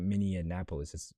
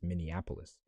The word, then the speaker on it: Minneapolis: It's not Minneapolis. It's Minneapolis. So very cold area up there.